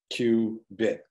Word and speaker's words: qubit: So photons and their polarizations are the archetypal qubit, pronounced Q-bit, meaning quantum bit.